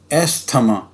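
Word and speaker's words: asthma: क्या इसे प्रोनाउंस करते हैं? हम कहते हैं एस्थमा, कहते हैं ना।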